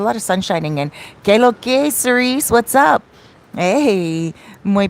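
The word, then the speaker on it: qué lo que: what's up in spanish it's usually q-u-e-l-o-q-u-e but here in the dominican republic we say k-loke like short form dc nagua is nice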